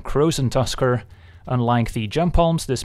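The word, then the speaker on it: Krosan Tusker: the legendary cave walker rhymes with frozen busker it's none other than crows and Tusker unlike the jump palms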